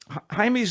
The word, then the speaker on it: Jaime: when young Jaime Reyes, we'll call him Jaime. Let's get the pronunciation proper here. Jaime Reyes, it looks like Jamie, a Mexican-American teenager bonded